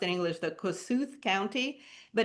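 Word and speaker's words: Kossuth: So it's pronounced in English the Kosut County but it's named after Koshut los you know the man who has this incredible moselium in Budapest.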